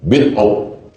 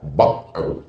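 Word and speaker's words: بضع: Bikasril ba' dibaca bawah. Bid'u. Kalau bud'u artinya kemaluan perempuan. Wa fi bud'i ahadikum shadaqah. Jadi hati-hati membacanya. Waqad tuftahu, kadang-kadang dibaca bad'u. Jadi kalau ada ustaz yang membaca al-imanu bad'un, salah tuh Pak Ustaz. Kau yang salah. Bacalah Riyadhus Shalihin, bisa dibaca bid'u, bisa dibaca bad'u.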